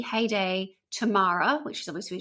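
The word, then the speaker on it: Haydée: but having looked up I think it's pronounced heyday Haiti cuz it's got an accent over the e heyday Tamara which is obviously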